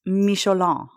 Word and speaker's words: Michelin: I'm going to talk to you about an incredibly adorable and interesting man, the Michelin man, pronounced Michelon.